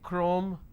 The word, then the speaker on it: chrome: for example change but when I have the word chemistry CH becomes cur sound so I say chemistry I say chrome so I do not